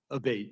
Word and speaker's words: Abate: I saying your name properly we've heard it pronounced three different ways today in the hearing aate Senator aate okay thank you camela um you